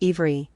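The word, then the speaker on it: עברי: It is the etymological root of the word Hebrew, which is obri, and pronounced ivri.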